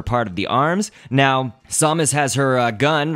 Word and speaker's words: Samus: I know that you could also pronounce it Samus, and we will get to that in a second. The way that I pronounce it is Samus, so please forgive me if you pronounce it the other way.